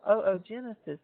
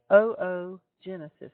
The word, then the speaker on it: oogenesis: maturing and as it does the process of oogenesis continues oogenesis in females would be analogous to spermatogenesis in males and please note that it is pronounced oo genesis not oogenesis even though it's spelled o o